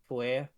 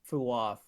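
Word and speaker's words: Fuath: on it, Yeah, but the Fua part was definitely yeah, strongly pronounced, and it was like the TH was like a little like a lighter TH than is used in common English.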